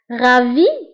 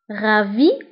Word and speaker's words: ravi: Ravi de vous voir. Ravi de vous voir. فانتبهوا هنا قلت S de ravi la ننطقها.